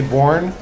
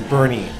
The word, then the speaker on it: Boerne: in Bernie Bernie Texas it's spelled b o e r n e so if you guys say born you're wrong it's Bernie this is where we're